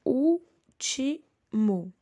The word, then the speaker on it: último: Eu tenho último. A sílaba mais forte é o U.